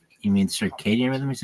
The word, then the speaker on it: circadian: was like the Cy Jo like you mean circadian rhythm he's like yeah Circ Rhythm okay that that guy was shitty no